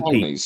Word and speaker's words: Ptolemies: Forget the P. Ptolemies. It's a silent P.